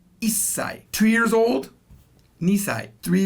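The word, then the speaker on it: 一歳: sai means years old you could say right ichi-sai but it would be wrong because what japanese do is they've shortened it to isai two years old nissai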